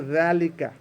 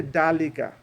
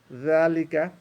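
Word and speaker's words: ذلك: what is veluka veluka we don't say DeLuca or delica and their liquor ok so you have to again you have to smile you have to get your tongue out zalika right then you get that veluka so then then then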